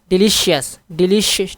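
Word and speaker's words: delicious: डिलीशियस, ठीक है, डिलीशियस सही है ना, डिलीशियस सेकंड पे।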